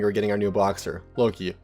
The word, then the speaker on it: Loki: So this happened to me pretty recently when we were getting our new boxer, Loki, pronounce it like Loki from the Marvel series.